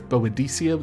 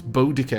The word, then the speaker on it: Boudica: would know her as Boadicea, though that is a complete butchering of her name. It's Boudica because it's a Celtic hard C. The Icia is more of a Roman kind of inflection on it.